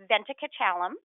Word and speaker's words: Venkatachalam: proud of myself because I think I pronounced Shilpa's last name correctly. And I will tell you, you can look at it in writing. It is, although it's long, it's pronounced exactly the way it's spelled.